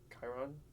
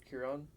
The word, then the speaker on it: Chiron: Chiron. Chiron, Chiron, something like that.